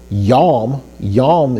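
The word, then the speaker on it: יום: Well, when you say that, so Yom is spelled yod, vav with a holam and final mem. So we got yo, o sound, as in holam. So we have holam, we know that's going to make an o sound, okay?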